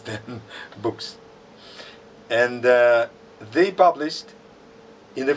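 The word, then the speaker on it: Boeckx: introduction to the public lecture calls called him boss which is incorrect uh his surname should be pronounced books cedric books from belgium because this combination of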